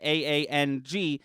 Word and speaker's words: Aang: it and be like it's pronounced aang and action it's just